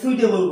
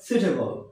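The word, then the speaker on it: suitable: না সেডিউল অর স্কেজিল তারপর আমরা এটাকে সুইটেবল বলি এস ইউ আইটি কিন্তু উচ্চারণ হবে সুটেবল কি হবে সুটেবল ন সুটেবল সুটে আমরা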